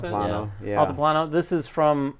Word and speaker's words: Altiplano: And then the other game, which will likely be on a lot of our lists, is it Altiplano? Is that how you pronounce it? Altiplano.